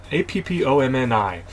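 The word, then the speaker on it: AppOmni: hand side it's from App Omni Inc so um they lost the lowercase which made me say it weird app Omni qualis cmdb sync ship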